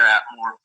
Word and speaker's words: Atmore: He's the CEO and head distiller of Big Escambia Spirits down in, do I pronounce it right? Atmore, Alabama? Yeah, it's near Atmore.